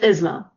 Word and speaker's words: Isma: Isma, is that how you pronounce it? Close. It's Isma. Isma, okay.